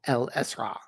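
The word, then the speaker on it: Isra: In Arabic, this is called El-Esra. It actually ends in an ayn. The last two letters are A and ayn, which is just impossible to pronounce if you're not a native Arabic speaker.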